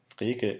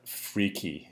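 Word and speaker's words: Frege: language by the way freekeh is a little bit difficult to pronounce if you're english and if you're english europe you are allowed to call that freaky if you want to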